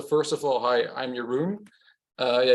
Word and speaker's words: Jeroen: of all hi I'm your room uh yeah you can pronounce it like but over the years